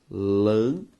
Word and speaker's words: lâmpada: Ao separar a palavra lâmpada, o nosso resultado é lâmpada. Sílaba tônica, lã.